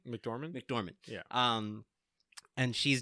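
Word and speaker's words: McDormand: you doing like the Francis how do you pronounce her last name mcdorman mcdorman yeah um and she's just a great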